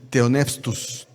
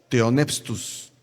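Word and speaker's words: θεόπνευστος: Al momento de traducir, se encontró con una palabra que se pronuncia así, teonepstus, teonepstus. Dijo, ¿cómo la traduzco?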